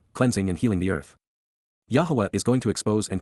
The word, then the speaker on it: Yahowah: of expressing condemnation and showing what was wrong, Yahowah, Yahowah, the proper pronunciation of the name of Eloah, God as directed in his Torah, teaching.